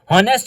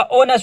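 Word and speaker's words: honest: हॉनेस्ट में हम एच को नहीं देखेंगे बल्कि ओ को देखेंगे। यहां पर आ जाए डश ऑनेस्ट गर्ल अब होनेस्ट तो नहीं होता ऑनेस्ट होता है ओ को हमने देखा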